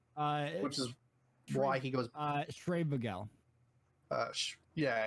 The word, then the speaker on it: Schreibvogel: himself admits it's a very difficult name to pronounce. Which is why he goes Schreibvogel.